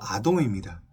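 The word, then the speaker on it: אדום: 붉은 것으로 표현된 팥죽은 히브리어로 아돔입니다. 발음을 할 때 아돔이라고 하는 것이죠.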